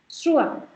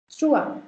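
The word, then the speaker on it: trois: Then there is three which is called trua. Trua. Why? Because OI is sounded as OA and the last consonant is kept silent. Trua.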